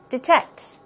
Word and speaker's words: detect: Detect. Detect. Some people say D with a long E sound, so it can be detect or detect. Two ways, but stress goes right there on the second syllable, means to find or